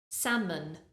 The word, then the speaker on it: salmon: speaking we say salmon salmon we don't pronounce the L almost at the end